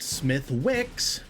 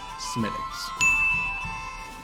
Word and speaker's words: Smithwick's: of you out there who are calling it smith wicks you're wrong it is pronounced smitics in 1965 the smitex brewery was purchased by